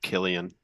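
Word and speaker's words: Cillian: n Murphy M Ur P why it's actually pronounced Killian Killian right he's the guy that played offenheim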